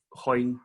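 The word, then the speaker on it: Hoigné: Y la otra es una reacción que se llama de Hoyne, se escribe H-O-I-G-N-E.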